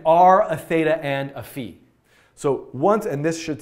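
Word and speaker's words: phi: chat confirm that I'm pronouncing the Greek letter fee correctly I know some people say five and I think it's actually fee so great I'm gonna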